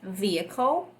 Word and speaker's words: vehicle: palavra aqui que é vehicle ver erro então a gente vai para anunciar bem sutilmente esse ver ver ver ó às vezes é admissível o som do h dependendo da região de